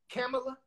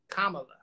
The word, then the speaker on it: Kamala: do you say it camella comment yeah uh she said it's like comma with a love you like the punctuation my comma look kamala yeah whoever it is